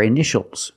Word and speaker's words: initial: this word initial or initials more than one we see Tia together so that t is pronounced initial initial my initials are